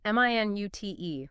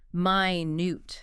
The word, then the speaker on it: minute: This one depends on stress. Right. Stress on the first syllable, M-I-N-U-T. That's the unit of time, 60 seconds. Stress on the second syllable, minute. That's the adjective, meaning very, very small. Tiny. So minute versus minute. Wow.